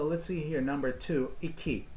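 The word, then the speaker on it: iki: all right so let's see here number two eeky eeky you know which is very similar pronunciation as an english year eeky eeky ok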